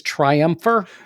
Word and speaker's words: Triumpher: Next, we have Triumpher. And I am not mispronouncing that. It is Triumpher.